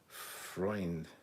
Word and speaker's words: Freund: said, you got it right the first time, but the last name is German, so it is pronounced like Freund.